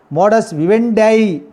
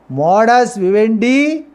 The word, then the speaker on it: modus vivendi: Modus operandi, modus vivendi. Both pronunciations are correct. Modus vivendi or modus vivendi.